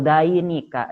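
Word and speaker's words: ذينك: Kalau dua orang, danika atau dainika. Danika atau dainika dibacanya ya.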